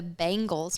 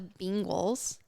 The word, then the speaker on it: Bengals: How do you say B-E-N? Ben. Bengals. Now they're the Bengals. No, the N changes the E and how you say that vowel.